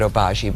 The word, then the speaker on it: Obagi: true um what makes the and they actually pronounce it oaji but what I say what makes it different